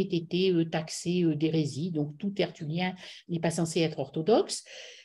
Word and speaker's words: Tertullien: Alors, cette citation, donc Le diable et le singe de Dieu, on l'attribue à un auteur qui s'appelle Tertullien, donc ça s'écrit T-E-R-T-U-2-L-I-E-N, donc Tertullianus, donc auteur qui écrit